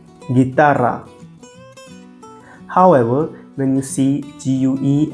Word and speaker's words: guitarra: Same rule applies to the combinations of GUE and GUI. The U is silent. It also helps to maintain the G sound as we have in the English word go.